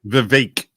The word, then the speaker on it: Vivek: Vivek, like cake.